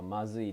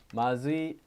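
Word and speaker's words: まずい: Boku no Nihongo wa mazui desu. Ah, he did the same thing I did, except in Japanese. Mazui, not mazui.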